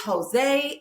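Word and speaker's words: José: No, it's Jose and it's Jesus. he wouldn't obviously know if he hadn't studied any type of Spanish that the J is silent.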